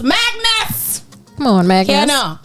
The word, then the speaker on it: MXGNS: And MXGNS pronounced Magnus.